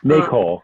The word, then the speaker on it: NACOLE: Brian is the immediate past president of the National Association for Civilian Oversight of Law Enforcement, NACOLE. Is that how we would pronounce it, Brian? NACOLE? NACOLE, yes.